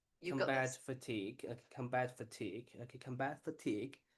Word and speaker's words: combat fatigue: Combative fage. Did I pronounce correct?